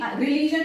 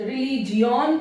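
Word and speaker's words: religion: जी रिलीजन में देखो जी आई ओ एन, रिलीजन। बड़ा डिफिकल्ट कि अब इसको ऐसा पढ़े कि रिलीजियन पढ़े, क्योंकि जी आई तो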